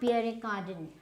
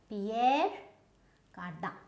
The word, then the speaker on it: Pierre Cardin: So it's not Pierre Cardin. Pierre Cardin, no, it is Pierre Cardin.